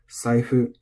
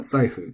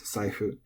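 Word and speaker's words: さいふ: Saifu is flat. It's not saifu, it's saifu.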